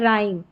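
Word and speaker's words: rhyme: जैसे रिदमम और यह है राइम। र यानी एच यहां पर साइलेंट है।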